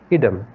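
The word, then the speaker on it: ad idem: the Latin term consensus add item or you can pronounce it as Adam which means agreeing on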